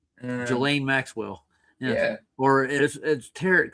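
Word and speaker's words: Ghislaine: So, it's actually Gain. You know what I mean? Like Slain like Gain. I see how Let me just get it up again. Gelain Maxwell.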